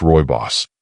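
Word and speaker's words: rooibos: And one of the most promising, Royos tea. Now, Roy Boss, pronounced Roy Boss, is a naturally caffeine-free red tea from South Africa.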